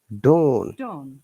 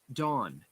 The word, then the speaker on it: don: you can say that noun uk dawn u.s dawn dawn longer while for the uk's a shorter while you can see that there is two doors in the ipa so a lecture a